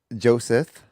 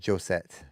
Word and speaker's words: Josette: I was pronouncing it Joseph, which I took a lot of time practicing saying that yesterday and saying it right. Yeah. And I do believe after looking up the name, because I'm like, that's an interesting name. I wonder where that comes from. I believe I may have been mispronouncing Josette.